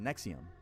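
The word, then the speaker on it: NXIVM: I know this to NXVM pronounced Nexium.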